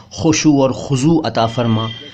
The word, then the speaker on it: خشوع: उच्चारण पर ध्यान दीजिएगा खुशु खुसू नहीं खुजू खुजू नहीं ठीक है खुशु खुजू जो लोग अरबी उच्चारण